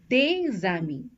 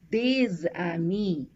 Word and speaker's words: des amis: For example, des amis, D-E-S and A-M-I-S. These are two words. This word ends with a consonant, so we don't pronounce the S, but it's followed by a word that starts with a vowel, A.